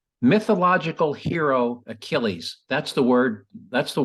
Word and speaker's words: Achilles: it was all spelled he said ageless um and they and then you heard the beat the buzzer well I'm sorry we can't accept that because you have to pronounce it correctly so because this guy